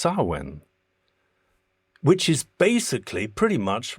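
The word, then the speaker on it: Samhain: which is written samhane but it's pronounced sawen which is basically pretty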